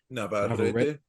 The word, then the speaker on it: Navarrete: After that, the other major fight that we had going on was, can you pronounce the name for me one more time, TJ? Navarrete.